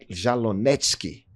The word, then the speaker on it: Jalonetsky: Pronúncia exata. Exata, Jalonetsky.